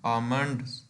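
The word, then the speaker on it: almond: जी लुक्वाट है बादाम आमंड LG silent करेंगे इसमें आ मंड्स बादाम अंजीर फिग एफ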